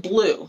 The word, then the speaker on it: Bleu: it's new to me it's called blue it's still available on Park Lane by Valerie calm it's spelled ble you blue but spelled weird let's ble you it